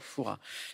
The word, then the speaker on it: Fouras: Attention, il y a un S à la fin, mais les puristes ne prononcent pas le S de Fouras. On ne dit pas père Fouras, on dit père Fouras.